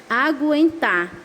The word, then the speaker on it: aguentar: o que o mas se na palavra você pronuncia a letra U aí ele não é dígrafo por exemplo a palavra aguentar Observe que quando eu falo ago em tá